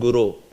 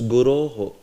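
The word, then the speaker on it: गुरो: rindam like that so this guro sometimes somebody may just pronounce as Guru it's not correct uh you can't say Guru there or sometimes somebody pronounce as Guru only just Guru it's not Guru also right V Guru Shri no it's guro so vur you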